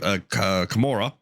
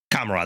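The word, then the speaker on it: Commorragh: The inhabitants of this vast dark city within the Webway called Kamora. Kamara, that's it. I knew I was saying it wrong.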